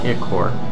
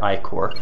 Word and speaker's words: Ichor: game I pronounced it iccor and then the second playthrough I pronounced it i-core but honestly I have kind of gone back to calling it iccor The Accord military base